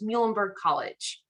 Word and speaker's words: Muhlenberg: pronounce us don't worry easy way to remember is think of the animal mule that's our mascot so it's muhlenberg college um so muhlenberg we are a small